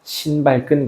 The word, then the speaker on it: 신발끈: 신발끈 공식. 이유는 조금 이따 얘기할게요. 발음을 유의하셔야 됩니다. 신발끈입니다. 발음을 하나 생략하면 큰일 나요.